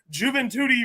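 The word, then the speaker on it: Juventude: and leg always say juven tuti rhymes with booty so said juen toti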